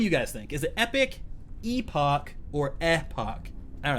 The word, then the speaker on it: Epoch: I used to say Epoch, I got corrected. I said Epoch, I got corrected. And now the latest interpretation is I need to say Epic, Last Epoch.